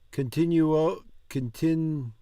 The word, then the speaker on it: continuo: E così continuo. That's like nuoto. Nuo. Continuo. E così continuo a restare aggrappata.